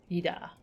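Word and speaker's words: Yda: Yida is pronounced. The Y almost but not quite silent. Yida.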